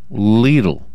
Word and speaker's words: Lidl: spelled Lidl Lidl okay it's pronounced little it's pronounced leelu I got a pronunciation